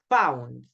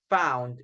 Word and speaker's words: found: found. Yes, remember, not in all the examples or not in all the opportunities, but in some, okay, in some opportunities, letter O and U sound like ow, ow, okay?